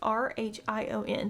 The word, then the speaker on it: Rhion: at Rhion's house and I believe that's how you say his name. It's r h i o n, so we're going to call him Rhion.